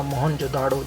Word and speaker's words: मोहनजोदड़ो: मोहनजोदाड़ो शब्द का सही उच्चारण है मोहनजोदड़ो।